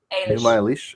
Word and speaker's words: Enuma Elish: Is that how you pronounce it? Enuma Elish.